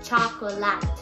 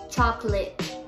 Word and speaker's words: chocolate: Todo el mundo sabe cómo se escribe chocolate y mucha gente cree que se pronuncia chocolate o chocolate. Es chocolate, o sea, son dos sílabas en vez de tres.